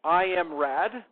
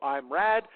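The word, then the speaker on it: IMRAD: There's another tech ordering technique called I am RAD. Um, which is the way I've heard it pronounced. So I'm RAD.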